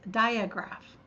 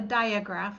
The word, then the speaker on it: digraph: A common mispronunciation of that word is digraph. It's not a diagraph, it's a digraph. Di means two and graph means written. So we have two letters together that make one sound.